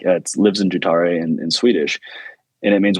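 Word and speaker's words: livsnjutare: yeah and I found this word it's it's pronounced more like leaves neutada and like it lives in jutare in Swedish and it means one who lives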